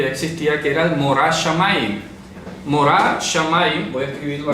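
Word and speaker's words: מורא שמים: Morah Shamayim, la pronunciación.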